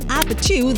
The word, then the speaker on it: APT.: It comes from Apt, the Korean pronunciation of apartment and refers to a popular Korean drinking game.